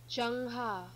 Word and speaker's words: Zheng He: Zheng He.